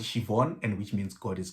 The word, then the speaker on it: Siobhan: to pronounce them but apparently that is shivon you know i think